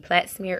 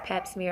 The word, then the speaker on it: pap smear: I was saying plat smear earlier and it's pap smear.